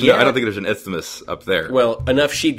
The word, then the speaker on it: isthmus: Isthmus? Isthmus? I think it's isthmus. Isthmus?